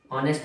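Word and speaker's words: honest: Silent. तो यहाँ पे ऑनेस्ट आ रहा है, ये ओ मतलब आ, है ना।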